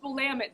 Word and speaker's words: Willamette: Is it Willamette or Willamette? It's Willamette, damn it.